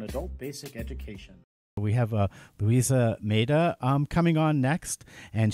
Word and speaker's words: Lusiana: I want to make sure I say your name correctly, so give it to me, the proper pronunciation. It's Lusiana. Lusiana.